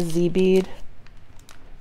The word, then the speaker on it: dzi: This really spoke to me, these 10 millimeter shell beads, and I'm going to pick a Z bead. And it's spelled DZI, guys, Z beads.